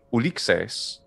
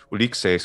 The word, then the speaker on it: Ulixes: so that said um ulixes was derived from some alternate pronunciation version of odour or duseos is just closer to the attic pronunciation of the fifth century bc uliq says is what some romans heard like hundreds of years earlier from a completely different dialect of greek that's also the different